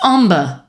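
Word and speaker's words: ombre: do you say that o m b r e it's omber how do you say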